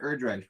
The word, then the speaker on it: Erdreich: saying what to expect hi Mr erdridge which is how you pronounce my last name by the way uh